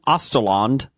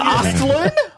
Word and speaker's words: Östlund: Östlund? Östlund. Östlund. Yeah, you, you threw an A in the middle. Östlund. No, I don't think you I did. Added a syllable.